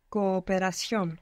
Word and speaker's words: cooperación: Cooperación. Good. Cooperación. Good. You pronounce both O's. That was correct. Cooperación. This sounds a tiny bit longer now.